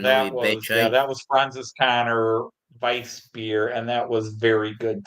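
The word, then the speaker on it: Weissbier: Swiss veal and a good white beer. I haven't even had dessert yet. Yes, but it gets mispronounced white beer because Weiss beer.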